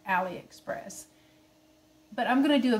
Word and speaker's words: AliExpress: to do a aliexpress i call it aliexpress but it's i think it's actually pronounced aliexpress but i'm gonna do